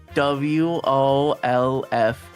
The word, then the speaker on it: Wolfe: place to sleep in, I named it WOLFE. The E is silent.